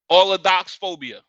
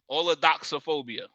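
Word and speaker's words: allodoxaphobia: Allodoxophobia. Allodoxophobia. Allodoxophobia. Spell it for those in the back.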